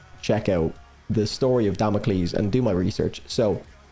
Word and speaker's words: Damocles: Um, I've been I was grilled on the metal round the podcast for basically pronouncing Damocles Democles.